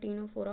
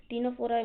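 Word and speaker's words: Ctenophora: टीनोफोरा मतलब सी silent रहता है।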